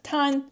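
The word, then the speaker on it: 炭: It just is a different pronunciation. Sumi is the more common one, but it can be used as tan.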